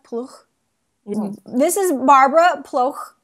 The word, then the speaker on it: Ploeg: Ploeg. Ploeg. Like Buch Buch. in German, but then Ploeg. Ploeg. Is that close enough? Ploeg.